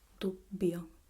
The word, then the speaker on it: dubbio: The first occlusive double consonant is B. Dubbio, dubbio. Can you hear it? This pause. Dubbio, dubbio.